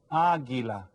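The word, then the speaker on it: águila: in English in espol Aila you see it has that Accent on the first a go ahead and write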